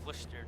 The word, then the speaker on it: Worcester: Like, Worcester is Worcester to us.